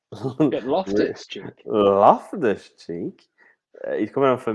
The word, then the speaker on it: Loftus-Cheek: Ruben Loftus-Cheek's coming on. You said that really weirdly. You put all the emphasis on the wrong part of his name. What did I say? You Ruben. went Ruben Loftus-Cheek.